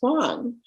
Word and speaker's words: Wang: name was Wong and he explained how it's w-a-n-g but it's pronounced Wong it's like oh okay